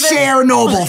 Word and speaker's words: Chernobyl: Yes, Chernobyl from the singer Cher.